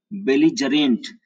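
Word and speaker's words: belligerent: और इसको उच्चारण, इसका उच्चारण करते हैं बेलिजरेंट, बेलिजरेंट।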